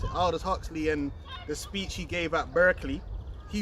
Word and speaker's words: Aldous Huxley: And when you go into Aldous Huxley, that's how you pronounce it, Aldous Huxley, and the speech he gave at Berkeley, he